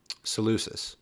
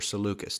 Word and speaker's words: Seleucus: north refers to um celesus or seleucus depending on how you pronounce it and then we go